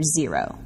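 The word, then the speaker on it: Zerow: At the 2009 Solar Decathlon in Washington, D.C., our nation's capital, Rice University displayed their Zero. That's spelled Z-E-R-O-W House.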